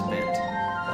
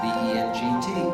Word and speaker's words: Bengt: It is Bent. It's B-E-N-G-T. Swedish name. Swedish. Because I am from Utah. I know, doesn't make sense. It is Bent. We say Bent. In Sweden, you would actually pronounce the G.